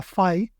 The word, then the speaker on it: Phi: Por un lado, recordáis el LLM que se llamaba Phi como la letra griega, solo que los americanos lo pronuncian Phi, pero bueno, es Phi, escrito P-H-I, que es de Microsoft.